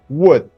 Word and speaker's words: would: well done now everyone the sound L is not pronounced should would could as you can see L is not pronounced L is silence okay you're doing great